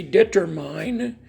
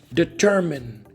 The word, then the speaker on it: determine: Most people from Brazil, they say determine and administrate, and that's wrong, right? It's not determine, it's not administrate. The correct pronunciation is determine for the first word. And for the second word is administer, right?